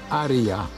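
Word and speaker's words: Haría: Dojechałem do miejscowości Aria, pisze się Haria, położona w dolinie podobno tysiąca palm.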